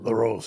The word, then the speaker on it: Larose: Story starts in the Bayou and Laros. Is that how they pronounce it? LaRose.